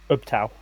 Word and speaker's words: Ubtao: Ubtao. That's how I pronounce it.